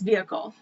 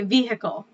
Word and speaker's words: vehicle: how about okay see we don't pronounce the h it's vehicle so i think you guys say vehicle i mean it depends